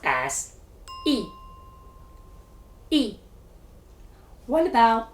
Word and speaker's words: 一: the third tone, as in wan, E is pronounced as yi. Yi. What about E followed by the fourth tone, as in guan? Spot on. E has changed from the first tone to the second tone, yi, as in yi guan.